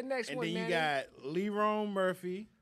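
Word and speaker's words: Lerone Murphy: undefeated LeRon Murphy not Tyrone not byon it's pronounced more but LeRon I got to do it for Theon City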